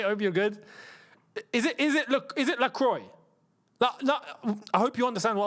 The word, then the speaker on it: Lacroix: It's LaCroix. Okay, cool. Just so then, you see, when commentating, I got to know what most people will understand. If I try to go a little bit too, deep on this, and I say his name for how it's actually meant to be said, La Croix, people are going to